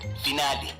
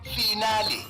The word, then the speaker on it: finale: over guide to mispronunciation today's word finale origin Italian pronunciation finale meaning the last part of a series commonly mispronounced s final as if you're discussing your metric results example I can't wait